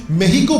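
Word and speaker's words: México: जो मेक्सिको देश है उसको नॉन मेक्सिको के लोग मेक्सिको बुलाते हैं, लेकिन कई मेक्सिको के लोग इसे मेहिको बुलाते हैं क्योंकि मेक्सिको के लोगों की वो प्रोनाउंसिएशन है।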